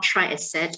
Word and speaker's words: Triaset: i'm from company called try asset if you can see my slides there um try i said t-r-i-a-s-e-t just to ensure that you know how to pronounce that now um what